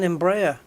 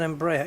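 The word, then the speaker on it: Embraer: Oh, it's an Embraa thing. Is that how you pronounce it? Yeah, it's an Embraa E190 then.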